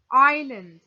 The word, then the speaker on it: island: improve would work on island ireland the s is silent island noun a piece